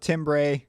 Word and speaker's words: timbre: It looks like it's spelled Timbre, but it's pronounced timbre.